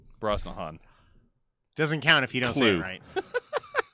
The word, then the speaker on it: Brosnahan: Mazal i am also going with Rachel Brosnan you said it wrong Brosnahan doesn't count if you